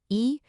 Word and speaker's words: 一: The character for one, E, is typically a high, flat first tone.